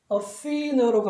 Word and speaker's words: Athena: 비슷하게 우리 흔히 아테나라고 하는 이것도 실제로는 액센트가 여기 있고 끝에 A 또는 E로 따라서 얘를 복모음 발음인 E라고 해서 발음을 해야 됩니다. 따라서 얘의 발음은 Athena라고 합니다.